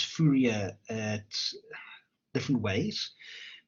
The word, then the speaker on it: Fourier: Fourier, so let me just type it in the chat. Fourier transform. I know there's a lot of people pronounces Fourier at different ways. Europeans pronounce it as Fourier, so the proper British